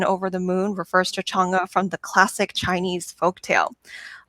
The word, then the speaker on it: Chang'e: I had no idea who Chang'e was and couldn't pronounce Chang'e, but now, Peilin, am I getting it right? I think I perfect. Perfect.